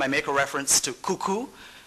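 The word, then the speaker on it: cou-cou: make a reference to cuckoo which is spelled c-o-u hyphen c-o-u and that's the national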